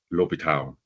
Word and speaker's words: L'Hopital: Okay, the spelling is look like hospital, but there is no S, right? And it's pronounced L'Hopital rules.